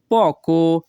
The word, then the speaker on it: poco: এখানে পিও এর উচ্চারণ হবে প। ইতালিয়ান ভাষা poco, বাংলা অর্থ সামান্য।